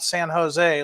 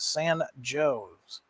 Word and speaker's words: San Jose: I've learned just recently that there is a San Jose, Illinois, but it's not San Jose like you folks on the West Coast. In Illinois, it's pronounced San Jose.